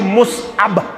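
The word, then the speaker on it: مصعب: मुसअब बिन Umair Kashir one मुसअब असल लफ्ज मुसअब असल लफ्ज क्या मुसअब छुन सही प्रोनाउंसिएशन के असल प्रोनाउंसिएशन क्या मुसअब मुसअब बिन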